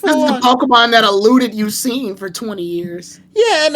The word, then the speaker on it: Suicune: You can fucking elude you seen, right? That's how you say his name.